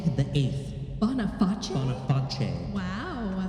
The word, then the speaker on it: Boniface: Anyway, Pope Boniface VIII. Boniface? Boniface. Wow. Now it looks like Boniface, but it's Italian, and I know that when it's a C alone, it's pronounced ch. Right. So Boniface. Yeah.